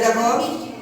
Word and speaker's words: the: আমাদের প্রথমেই খেয়াল রাখতে হবে যে ওয়ার্ডের প্রথমে যদি ভায়েল থাকে, যে কোনো ওয়ার্ডের প্রথমে যদি ভায়েল থাকে তাহলে তার উচ্চারণটা হবে দি, আর যদি কনসোনেন্ট থাকে তাহলে তার উচ্চারণটা হবে দা।